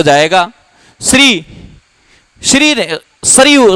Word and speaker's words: श्री: सीधा ही लिख दू श्री धन क्या हो जाएगा इस हो जाएगा श्री श्री श्री शुद्ध उच्चारण इसका शरी है ध्यान रखना यह संयुक्त व्यंजन है तोड़ के लिखते हैं